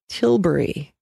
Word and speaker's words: Tilbury: it's still quite nice there is also a Tilbury t IL bu ry this was a lightweight